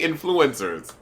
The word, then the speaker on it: influence: No, it's not influ. Wait, the accent is. You're saying it wrong, bitch. The accent is not on flu.